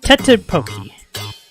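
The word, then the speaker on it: 떡볶이: It's tteokbokki.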